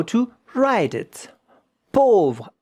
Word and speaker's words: pauvre: Pauvre, A-U. These two letters make the sound O, not O. O. Pauvre, pauvre. V-R-E at the end. But the E, you don't hear it.